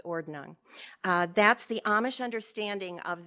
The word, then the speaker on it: Ordnung: Now, I'm pronouncing that as they pronounce it in English. If they're pronouncing it in their colloquial Pennsylvania Deutsch or Pennsylvania Dutch, they pronounce it Ordnung. I'm more comfortable with Ordnung.